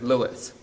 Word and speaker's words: Louis: of Armstrong is that he referred to himself as Louis. So that's probably the right thing to do. I grew up hearing people say Louis Armstrong, and though I think Louis is probably correct, I probably go back and forth between the two.